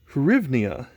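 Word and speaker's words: hryvnia: ruble they have this i believe that is pronounced the rivnia km-8b books for 250.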